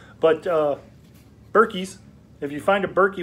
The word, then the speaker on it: Berkey: you find berkey b-e-r-k-e-y sounds like what i call birkenstocks but it's not birkenstocks it's berkey and it's spelled completely different but uh berkeys if you find a